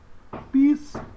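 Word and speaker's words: πιστεύω: A sílaba que recebe o acento agudo é a sílaba do ditongo. Então você diz pisteuo.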